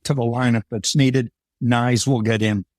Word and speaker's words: Knies: I like about Matthew nice is his size I mean it rhymes with knives and and he's got